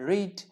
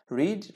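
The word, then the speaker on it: read: রিড। রিডের past participle ফর্মের বানান same, একই বানান, উচ্চারণ ভিন্ন। রিড, রেড, রেড।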